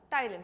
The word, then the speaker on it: ptyalin: Salivary amylase or ptyalin. P is silent.